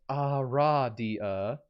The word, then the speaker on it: Aradia: gold and cold iron it is pronounced a radia aradia the lioness girl in